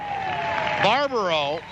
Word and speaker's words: Barbero: Now, Barbero, excuse me, is the way that it is pronounced properly.